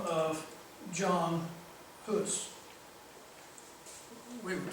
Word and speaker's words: Hus: But there was a rector in the Western Church in Prague, Czechoslovakia, by the name of John Hus, we would say, pronounce it.